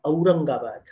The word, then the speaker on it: Aurangabad: And similarly, Au. Now this is a feature that's also found in the Marathi language. So we say Mumbai and we say Aurangabad.